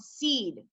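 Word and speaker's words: Cede: changed the entire Lewis Cass Payseur Trust into a new company called Seed, C-E-D-E and Company.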